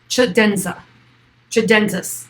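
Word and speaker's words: tchadensis: It is Sahelanthropus chidensis, sorry. It's like, how many times can I say this word? Chidensis. The T is silent.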